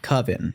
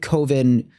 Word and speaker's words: Coven: Not Coven. It's not pronounced Very Coven emphatically. because Coven sounds like oven, man.